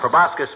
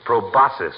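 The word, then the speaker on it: proboscis: his big fat proasus prascus means nose doesn't it doctor it's proasus my boy the sea is silent like a husband in a milliner shop it's from the Latin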